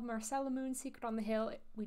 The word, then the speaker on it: Marcella Moon: going I'm snuggly and this is Marcel Moon as Google reliably tells me it's pronounced this is a game